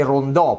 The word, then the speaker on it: Rondo: voi questo e modello rondo io direi rondò però non c'è l'accento sulla o quindi chiamate un po come volete e poi ci sono